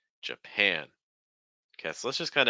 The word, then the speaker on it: Japan: to be Japan Japan notice the first syllable is a schwas sound so it's not J J it's j j j and then you have that ass sound plus a nasal once more an an Japan Japan Japan okay so let's